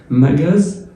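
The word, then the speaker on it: magasin: الاس بين حرفين متحركين بتتنطق زد. مجاز، مجاز اهي بين حرف الا حرف الاي تبقى مجاز، مجاز.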